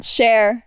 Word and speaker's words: Cher: Cher.